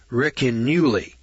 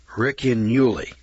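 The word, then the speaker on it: Ricinulei: It's called the Riccinulei. It's spelled R-I-C-I-N-U-L-E-I. Riccinulei. That's the way I'm pronouncing it.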